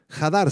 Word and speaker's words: hadar: glorificar del arameo jar con h al principio y acento en la segunda a jar hadar significa honrar magnificar o